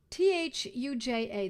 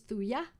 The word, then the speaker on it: thuja: Leanne she already knows thuya thuya accidentalis t-h-u-j-a the J is silent some people pronounce thuja but I believe the correct pronunciation is thuya three accidentalist and it